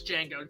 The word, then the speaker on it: Django: Franco Nero, the original Django, and he says what's your name, boy? It's like, Django. How do you spell it? D-J-A-N-G-O. The D is silent.